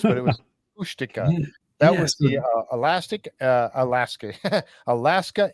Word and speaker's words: Kushtaka: No, I wrote it down phonetically so I can remember how it's pronounced, but it was Kushtaka.